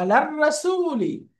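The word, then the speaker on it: على الرسول: মাশাআল্লাহ, আলার রাসূলি, আলার রাসূলি, সান লেটার, এই জন্য লাম উচ্চারণ হচ্ছে না, প্রথম অক্ষরে তাসদিদ দিয়ে করতেছি, আলার রাসূল।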